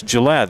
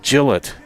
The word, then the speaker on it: Gillett: Most people think it's Gillette. It's No, it's Gillette.